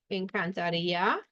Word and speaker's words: encantaría: So me encantaría. Accent on the I, right?